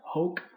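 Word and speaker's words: hōc: the ablatives we're done hoke hawk hoke is how we're going to pronounce those but for the accusatives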